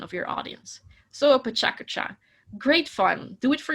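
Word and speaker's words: pecha kucha: First, learn how to pronounce it, pechakucha.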